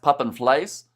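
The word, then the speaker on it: pap en vleis: Uh, Pep Pepen as a is the mist crosscultural meal in South Africa pron or pronounced pap and fleas.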